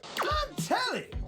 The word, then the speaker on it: Blantelli: Blantelli rhymes with jelly.